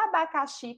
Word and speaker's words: abacaxi: palavra oxítona Pois é se a gente falar a palavra abacaxi como se estivesse chamando alguém por esse nome Ó abacaxi a gente já percebe que a sílaba tônica é a sílaba sim em relação a localização é a última sílaba é classificada Então como